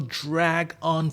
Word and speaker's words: drag on: This thing is going to drag on forever. Когда что-то какое-то событие затягивается, like собрание, встречи, would say it's dragging on. И важно произношение, мы слитно произносим dragon, как драгон.